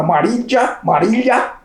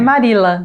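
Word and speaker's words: Marilla: E quem foi buscar eram dois irmãos, uma mulher chamada Marília. Também a pronúncia com a Fabiana. É Marila.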